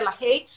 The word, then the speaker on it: LaHaye: Se escribe en español con H, LaHaye, o se pronuncia LaHaye, pero libro de los temperamentos de Tim LaHaye.